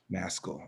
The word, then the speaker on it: Maskell: I don't know how to pronounce that last name. Forgive me. It's Maskell.